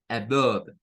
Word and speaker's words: above: Vean, esa comienza con lo que sería el sonido de un schwa, above, que es por encima de.